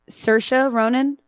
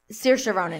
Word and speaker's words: Saoirse Ronan: I did like how do you say it Saoirse Ronan Saoirse Ronan yeah I liked her dress but here's the